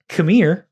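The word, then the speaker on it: Qimir: His name is it's Chimere. It's K-M-I-R-E. Oh, I thought that he was yelling at us like No. it's pronounced Chimere.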